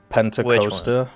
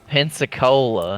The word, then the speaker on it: Pensacola: do you say the heavy cruiser for America Penta coaster whatever it's called pensacola pensacola that's the one the pepsi cola camp